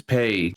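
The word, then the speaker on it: pe: In Spanish, J is pronounced as Jota, and P is pronounced as Pay.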